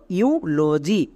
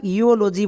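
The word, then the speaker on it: eulogy: Next LOGY, এটা একত্রে উচ্চারণ দেই লজি, তাহলে আমরা একসঙ্গে বসিয়ে দেব, তাহলে কি হলো ইউলজি। একে আমরা ইওলজি বলতে পারবো না, মনে রাখবা ই ইউ ইউ সাউন্ড দেবে।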